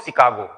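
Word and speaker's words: Chicago: सी एच आई सी ए जी ओ शिकागो। उसको pronounce करते हैं हम लोग शिकागो।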